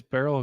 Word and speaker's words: Beryl: is wild Dena Serena it's barl rhymes with Merill lb lb's lb's still